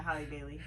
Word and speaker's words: Halle Bailey: Halle Bailey, is that how you pronounce her name? Yeah, Halle Bailey.